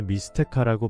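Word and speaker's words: Mixteca: 리스택 문명이라고도 불리는 사실 그들의 언어인 나와트러의 수비 스테카라고 발음되는 단어에서 유래되었기 때문에 미스테카라고 발음하는게 더 정확한 미스테카 문명은 현재 멕시코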